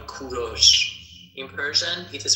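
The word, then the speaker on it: کوروش: English people call him Cyrus. But in Persian we call him Kuros.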